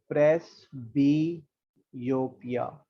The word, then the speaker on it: presbyopia: ठीक है, इसकी प्रोनाउंसिएशन ना थोड़ी अजीब सी है, प्रेसबियोपिया।